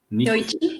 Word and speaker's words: Yoichi: We've got the Yoichi. Yeah, am I saying it right? Yoichi.